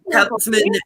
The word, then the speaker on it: Kautzman: So Kautzman is the way we say it.